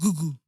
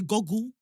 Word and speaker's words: Google: How's it pronounced? Google. Fair. Some people say goggle.